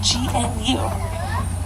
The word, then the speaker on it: gnu: It's spelled G-N-U. They get that name for the grunting sound they make. You know, like how a cow says moo, wildebeest says gnu.